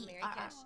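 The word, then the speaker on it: Merrykis: uh, under my name, but it's spelled M E R R Y K I S. So, Mary Cash.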